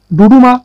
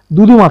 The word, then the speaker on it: ডুডুমা: ডুডুমা জলপ্রপাত কোন নদীর উপর অবস্থিত? এটা অনেক সময় দুদুমা থাকে। তো উচ্চারণ হবে ডুডুমা।